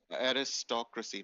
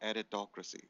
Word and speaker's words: aristocracy: a Yeah, but that's pronounced as aristocracy, not aritocracy.